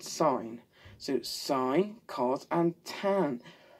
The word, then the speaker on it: sine: And it's not pronounced sin, you fool, because I am not religious in this house. It's pronounced sine.